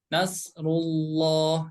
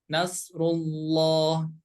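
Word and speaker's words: نصر الله: kita ke atas bertemu dengan lafaz Allah ya maka cara membacanya harus tebal ya Nasrulloh jadi dibaca loh Nasrullah Nasrullah idza Jaana seperti itu kemudian berikutnya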